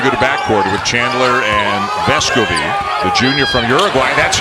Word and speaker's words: Vescovi: for the first time this year it is vesco v he was kind of allowing people to pronounce his name vescovi last year but evidently spoke up about it a little bit this year and vesco bee is the correct pronunciation of the young man's